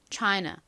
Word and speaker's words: China: 소리로 보통 표기를 하는데요 실제 발음은 보다는 어에 가깝게 쓰였습니다 CH CH 이렇게요 사실 차이나 이렇게 아 소리로 발음을 하나 China 이렇게 살짝 어에 가깝게 발음 하나 뭐 큰 차이는 나지